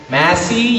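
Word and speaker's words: Masi: right here to say my name is Massi okay it's not it's spelled as m a s i so it's not Massie it's Massi okay so I place my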